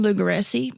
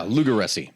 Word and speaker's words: Lugaresi: can't pronounce his name, Lugaresi, maybe. Yeah, Lugaresi. Like that's literally just what it would be, Lugaresi.